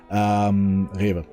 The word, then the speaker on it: Rewe: Rewe. I don't need to pronounce it English, and go there, or I go to the Edeka.